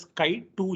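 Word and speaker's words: chi2: we will be importing chi-square right it is pronounced as sky 2 here underscore contingency let me just import this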